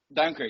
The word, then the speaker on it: Duinker: Is the last name pronounced Duinker? Duinker, yes.